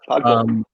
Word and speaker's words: Podkul: I had no idea, but that was the minor leaguer Nick Podkul, I think is how you pronounce his name. Yeah, Podkul.